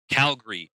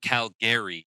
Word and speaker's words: Calgary: It's like, if you're from here, you call it Calgary, not Calgary, and Alberta, not Alberta.